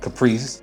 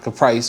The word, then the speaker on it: Kaprice: And it's pronounced, and I say this all the time, it's pronounced Caprice, not Caprice or whatever.